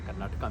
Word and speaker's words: कर्नाटक: नहीं है ना, तो कर्नाटका नहीं है, क पे आ की मात्रा नहीं है, लेकिन क को पूरा बोला जाएगा। जैसे हम अशोक बोल देते हैं, मानो क के नीचे हलंत है, अशोक पूरा उच्चारण है, राम है ना। उसी तरह से कर्नाटक, या जब कन्नड़ा के